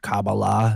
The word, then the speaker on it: Kabbalah: were fascinated with the Old Testament, obviously the Kabbalah, as you like to call it, Kurt.